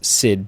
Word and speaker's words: Syd: and Roger Syd Barrett pronounced Syd as in Sydney but that's not where